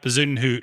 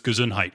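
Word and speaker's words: Bezuidenhout: odds there so um i like bazoon hoot who uh my dad refers to as gazun height because he can't pronounce his last name so uh you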